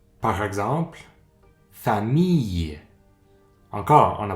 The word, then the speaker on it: famille: cette fois-ci font le son par exemple famille encore on ne prononce pas le l ça fait le sang